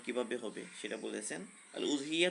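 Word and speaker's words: الأضحية: আল উযহিয়া তো বিজম্মিল হামজা, উযহিয়া লেখা হয় হামজা দিয়ে, হামজাটা পেশযুক্ত হামজা।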